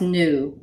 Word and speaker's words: nua: Nua. And you may hear it pronounced new in some dialects, but nua or new.